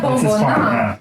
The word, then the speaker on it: Bomboná: It's not that hard to pronounce actually. Bomboná. Yeah, Bomboná. So the other thing is that I thought Bomboná would be easy to pronounce.